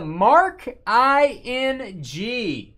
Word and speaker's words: Marking: Free spot going to Mark I-N-G.